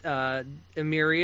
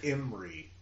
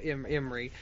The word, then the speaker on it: Imri: I'm throwing an extra I in the middle of it, yeah. So Imri.